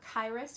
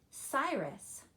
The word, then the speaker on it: Cyrus: it with the C it looks like it would be either Kairos or Karis but that is a soft C so it's going to say Cyrus good that's the name